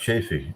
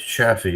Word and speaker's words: Chaffee: It's not pronounced Chafee. It's Chaffee, isn't it?